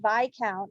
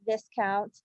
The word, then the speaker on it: Viscount: take it when I mispronounced the word vi count in a previous episode I said Viscount we all make mistakes